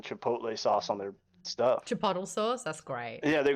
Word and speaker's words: chipotle: they made it so they made it so Jack couldn't pronounce Chipotle and so they he said it wrong like 18 different ways co cooco coco phony I